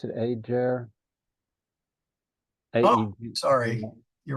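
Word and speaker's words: ager: uh the the AA or how do you pronounce it Ajer a sorry you're right it's AAR AAR AAR is field sorry about that AAR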